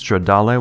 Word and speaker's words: Stradal: These Stradal watches, and yes, that's how I'm pronouncing the word because it's Italian, those will sell for $4,250.